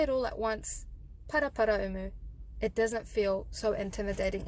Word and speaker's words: Paraparaumu: So what I suggest is to break it up into Paraumu. So Paraparaumu.